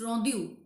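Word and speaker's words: rondeau: type that is rondu rondu actually this is French uh pronounce rondu so what is rondu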